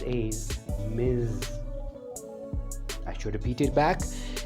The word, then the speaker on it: Ms: ms is pronounced as miz i should repeat it back the pronunciation of ms is miz give a stress to the z sound miz now frankly speaking i have heard it as miss uh but i learn